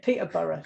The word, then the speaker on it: Peterborough: that like you know we pronounce it peter burris you come truly from